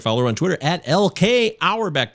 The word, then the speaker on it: Auerbach: on twitter at lk our back that's a u e r b a c our back like a red our back is still the same way it's spelled exactly the